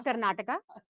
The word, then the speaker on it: Karnataka: so first up I think let's get the pronunciations out of the way it's Karnataka it's kannada Canada and it's so the a